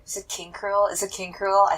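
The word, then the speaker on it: King K. Rool: Is it King Cruel or is it King K. Rule? Because I've been saying King K. Rule this whole time. I'm pretty sure it's spelled K. Rule because you say cruel.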